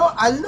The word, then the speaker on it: Allu: पहले तो मैं इसको आलू बोलता रहा हूँ, मुझे नहीं पता था कि ये इसका नाम अल्लू है, और बाद में जब मैंने इसकी प्रोनाउंसिएशन देखी तो मुझे समझ आई कि ये तो बेसिकली अल्लू है।